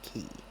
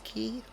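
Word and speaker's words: quay: It's spelled qu u a y and I've been told my whole life that that's pronounced key. So I guess it's key.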